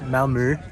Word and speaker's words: Malmö: states at Ikea so here we are in Malmo Sweden whereas it's pronounced in Swedish malmur we are heading for Copenhagen airport